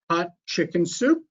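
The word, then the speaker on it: Hatshepsut: he said to me just think of a chicken soup and that's how you pronounce it so we're gonna visit the temple of queen hot chicken soup and queen hot chicken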